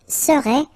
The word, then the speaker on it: serait: So final T is not pronounced. So phonetically, you've got the same form as we had previously. Il serait, elle serait.